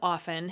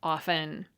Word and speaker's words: often: Against The Telltale tea it seems clear that the pronunciation of often has shifted away from the idea of tea-less often listen and you'll probably notice the change too so where did the prejudice against often come from well historically often is from aft so it had a t originally the writers of pronunciation